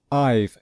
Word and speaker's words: I've: So I have cleaned, I've cleaned. So we put an apostrophe and then the letters V, E, and we pronounce it as one syllable, I've.